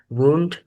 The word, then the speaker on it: wound: Wound here is not the same as bat because wound has a different pronunciation and also has a different meaning. The first pronunciation is wound. Wound here can meaning is